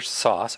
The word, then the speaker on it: Source: So your show, Tarter Sauce, or is it Source? Well, that's the Okay? question. My pronunciation was sauce, but it's spelled source.